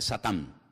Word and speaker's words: Satán: En hebreo no se dice Satanás, se dice Satán, que significa adversario.